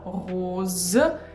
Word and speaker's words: rose: When we pronounce O fermé, closed O, we pull our tongue back and we close our mouth. And also make sure you pronounce Z, rose, and not S.